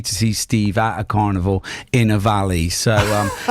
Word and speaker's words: Carnivali: Well, if you want more details, search for Carvini online, Facebook. I love how you misinterpret my mispronounced my name. Carnival. Carnival. Yes. Very Italian. It is Italian.